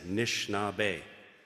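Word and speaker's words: Anishinaabe: last names of people learn how to say nishnabe the a is silent it's a soft language learn how to say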